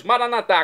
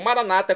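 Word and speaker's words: Maranatha: E agora eu clamo do aramaico, dialeto de Jesus, maranatá, como dizemos nós católicos, ou maranata, como dizem nossos irmãos, separados, os evangélicos ou protestantes.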